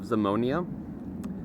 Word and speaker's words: Zamonia: uh it's set in the fictional World of zamonia Z O M um you know z m